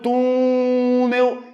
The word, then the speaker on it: túnel: for vender a palavra Olha o túnel Eu demoro mais tempo onde no tu ela é oxítona ou é